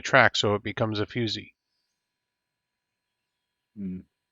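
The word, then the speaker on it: fusee: now on rare Ro fusey fusy and it's pronounced fusy fyo o- Z with a long e it's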